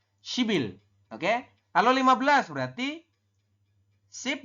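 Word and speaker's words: 십일: Ini dibaca bukan sip il tapi shibil. Oke, dibacanya apa? Dibacanya adalah shibil. Kenapa jadi shibil ya? Anda lihat tulisannya ya, teman-teman. Ada biap di akhir, konsonan biap bertemu dengan vokal i.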